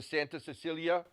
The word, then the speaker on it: Santa Cecilia: Giada honed her skills studying piano and music theory at the Santa Cecilia Music School in Venice.